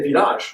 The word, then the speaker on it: village: Some of them are pronounced the French way, like massage, but village, you should say village.